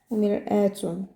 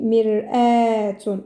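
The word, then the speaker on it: مرآة: C'est pour ça ici on dit mir'atun. On n'a pas dit mir'atun, mir'atun, qui est miroir.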